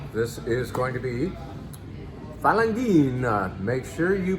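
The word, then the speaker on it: Falanghina: All right, this is going to be Falangina. Make sure you pronounce that correctly or you will be in trouble with HR.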